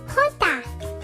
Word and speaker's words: jota: The letter J in Spanish is pronounced Jota.